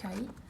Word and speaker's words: Kai: C'est la marque Kai. Voilà, ça se présente, enfin ça s'écrit KAI.